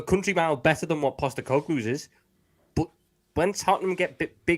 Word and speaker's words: Postecoglou: Because they're about to appoint, and I want to pronounce his name right. Is it Postecoglou? Someone say it faster than that. Postecoglou, that's the one.